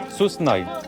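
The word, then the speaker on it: សួស្តី: Susnai.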